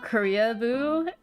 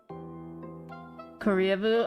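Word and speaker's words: Koreaboo: Korea-boo? Oh, it's spelled like Korea, like the country, and then boo. Korea-boo. Yeah. No. I'm surprised you haven't heard Korea-boo.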